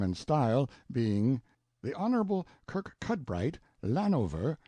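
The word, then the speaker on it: Kirkcudbright: style being The Honorable Kirk cudbright Lanover Marjorie Banks sellers Viscount Berkeley of Charles mundely Castle Warwickshire pronounced kacubri slanover Marsh Bank sellers VI count Barkley of Chumley Castle Yorkshire he is standing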